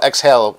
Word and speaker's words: Xhale: I just pack so the brand is called exhale but it's spelled XZ h l e we've linked it before